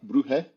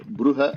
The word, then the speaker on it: Brugge: I mean, your ch is not necessarily guttural enough, but then again, it's Flemish, so it's okay.